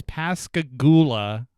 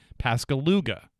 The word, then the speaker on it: Pascagoula: series of crimes took place the town is pasula Mississippi and for whatever reason my mind can wrap itself around that and I kept calling it Pascal luga I have no idea why I was practicing